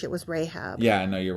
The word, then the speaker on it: Rahab: It's Rahab.